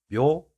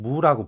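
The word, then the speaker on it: 畝: 정을 그 다음에 백, 묘 또는 무라고 보통 발음을 하죠. 묘이든 무이든 그거는 크게 신경을 쓰지 않아도 됩니다. 보통은 이제 무라고 읽는 게 아무래도 많을 것인데요.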